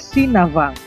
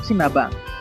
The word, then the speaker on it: Sinabang: Kalau diucapkan dengan logat daerah adalah Sinavang, yang berasal dari legenda Navang. Navang adalah si pembuat garam masa dulu di daerah Babang, yaitu berada di pintu masuk Teluk Sinabang.